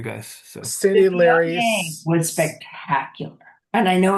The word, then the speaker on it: Viognier: throw a little snotty French accent in the end of it, and you're good.